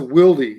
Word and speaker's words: Wildey: It was a Wildy 45 Winchester Magnum. That's what kind of gun it was. Wow. Say that again. It's a Wildy. It's spelled Wildey.